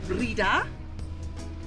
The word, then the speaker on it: Breda: So we're heading to a town called Breda. Apparently that's how you pronounce it.